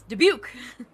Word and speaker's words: Dubuque: I thought, because it's French, right? Surely you'd figure it out because you're right there. But no. It's Dubuque.